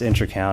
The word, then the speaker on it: Intracount: my own part-time business the name intra count is something that i it's pronounced intercount i noticed there was